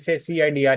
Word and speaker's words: CIDR: okay okay ठीक है नहीं सी आईडीआर ही बोलेंगे इसको मैं भी मैं ही अब तक गलत प्रोनाउंस कर रहा था इसे ठीक है